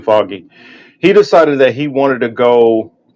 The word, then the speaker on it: Feige: I know his name is spelled funky compared to how it's allegedly said, but I think it's Kevin Foggy.